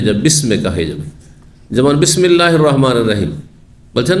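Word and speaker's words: بسم الله: তো মাঝখানে পড়ার কারণে হামজাটি সেখানে মিলিত হয়ে গেছে, ওয়াসল যেটি বলা হয়, উচ্চারণ হয়নি। আর আরও অতিরিক্ত লিখাতে হালকা করার জন্য লিখনি থেকেও সরিয়ে দেওয়া হয়েছে, তারপরে বিসমিল্লাহ হয়ে গেছে।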